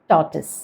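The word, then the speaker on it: tortoise: ഇത് നമ്മൾ ഉച്ചരിക്കേണ്ടത് ടോട്ടസ്, ടോട്ടസ്. അതായത് ടോട്ടോയ്സ് എന്ന് പറയേണ്ട, ആ നടുക്കുള്ള R സൈലൻ്റ് ആണ്, ടോട്ടസ്.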